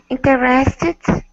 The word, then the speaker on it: interested: ID column H in interested very good notice in the IPA symbols for interested there's a little apostrophe in front of in do you see that